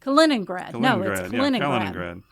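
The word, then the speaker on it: Kaliningrad: a cing grad no sorry how do you pronounce that kenrad kenrad museum okay so wa stop for a second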